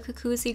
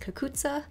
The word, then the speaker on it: cucuzza: Well, actually, I've been calling it a cucuzzi gourd, but I think it's technically pronounced cucuzza.